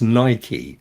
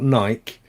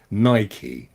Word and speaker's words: Nike: And it's Nike as well, not Nike. Nike, after the god.